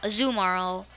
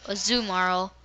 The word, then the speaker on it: Azumarill: evolves into Azul moral azumaro or tomorrow I think that's a I think that's how you pronounce it it's basically marwa with an Azu so a zoo moral which is kind of